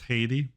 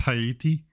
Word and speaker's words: Haiti: over 30% of the wait is it actually pronounced Haiti is it not hati is it actually pronounced Haiti hold on a no way a no way hold on how do you prounce HEI hati oh my God it it actually is okay guess I'm wrong